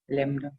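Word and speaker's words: lambda: और वेवलेंथ को हम लोग किससे रिप्रेजेंट करते हैं, लैम्डा।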